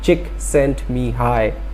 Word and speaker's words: Csikszentmihalyi: bad so if you want to pronounce it pronounce at us chick sent me hi all right so Mihai Csikszentmihalyi is a Hungarian